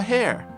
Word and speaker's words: hare: The story is about a hare. That's basically the same as a rabbit. Note the pronunciation is exactly the same as 髪の毛, hair, only the spelling is different.